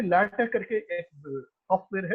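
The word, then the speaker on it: LaTeX: काफी सारे पब्लिशर्स जो है जिसको लैटेक्स कहते हैं, लिखते हैं लैटेक्स, जिसके उसे प्रोनाउंस करना है लैटेक।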